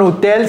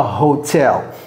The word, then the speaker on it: hotel: Un hôtel, c'est pas un hôtel. We say a hotel.